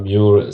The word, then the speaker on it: Muir: Je sais que ça se prononce Muir. Je sais que lui-même devait dire Muir avec son accent écossais.